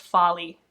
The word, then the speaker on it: Foley: Oh my gosh, it's actually pronounced Folly, and I learned that, and I'm sorry, Lucy.